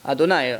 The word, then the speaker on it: Adonai: So it's written one way, it's written Yud Kei Vav Kei, and it's pronounced Adonai, Adni.